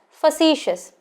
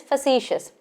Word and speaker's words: facetious: do like a challenge this word should be pronounced as facetious spelling card number faces but the correct pronunciation is facetious so facetious is a word which is used